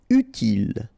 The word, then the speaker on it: utile: Utile. Final E not pronounced, so utile. Horrible.